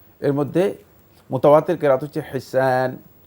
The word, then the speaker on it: হিসান: দুইটি কেরাত রয়েছে এর মধ্যে মুতাওয়াতের কেরাত হচ্ছে হিসান হা সিন আলিফ নুন হেসান এটা আপনার উচ্চারণ গুলো সঠিক হয়নি বাকি আপনি ব্লেম করে